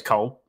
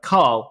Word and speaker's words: Cole: because my name is Cole I'm not Ryan because my name is Cole they're always like Carl and I'm like no co le I have to spell